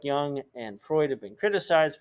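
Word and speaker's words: Jung: a student of his carl young which is spelled j-u-n-g believe that the mind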